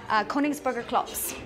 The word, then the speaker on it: Königsberger Klops: How do you pronounce that? Königsberger Klops.